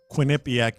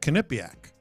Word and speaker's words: Quinnipiac: I've been mispronouncing Quinnipiac University uh my entire life. I was familiar with it, but I always called it Quinnipiac, but it's Quinnipiac. Yeah, Quinnipiac.